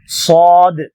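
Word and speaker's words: ص: அல்லாஹ் பார்க்கலாம் அடுத்ததாக அன்பானவர்களே சாது சாது இதுவும் வல்லினமாக உச்சரிக்க வேண்டிய ஒரு எழுத்து ஆகவே அதை தடிப்பாக ஹார்டாக சொல்ல வேண்டும் ஓரளவுக்கு சாத் இந்த நாக்கின் நுனி கீழ் பற்களுடைய வேரில் தொட்டு சாது சாது சாதுனரால் சிராத்தல் முஸ்தகீம்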